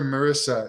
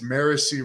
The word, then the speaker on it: Marissy: Sorry, I called her Marissa. It's Marissy. Sorry, Marissy, for pronouncing your name wrong.